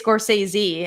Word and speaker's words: Scorsese: oscar movie it's um Martin Scorsese or is it is this coursezi or Scorsese never know everyone pronounce I think people today of both ways yeah I always used to say it's Scorsese and I think that's